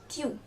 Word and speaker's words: tu: So coming to the next one, that is you in singular form, which we call as tu.